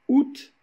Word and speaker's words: août: contraire de la diurèse par exemple août le mois d'août qui se dit août au lieu de dire à août ah non on a deux voiliers qui se suivent le a et le 'oui' mais ils ne sont pas prononcés séparément on va dire août